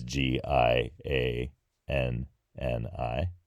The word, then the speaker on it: Gianni: Gianni and yeah it sounds a lot like Johnny in English it because it's the basically the same nickname it's just spelled differently it's G i a n n i Gianni and so similarly